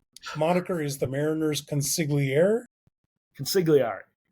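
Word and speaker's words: consigliere: Hey, uh Luke, so help me out with my pronunciation, but your newsletter is uh your your moniker is the Mariners Consiglier. Concigari. Conciglari.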